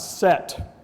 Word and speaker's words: Set: the same time is the god Set or Seth they're two different pronunciations depending upon which part of Egypt you're living in Seth